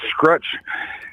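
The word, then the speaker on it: Skruch: Scratch. It's a Polish last name. Yeah. S kr u c h.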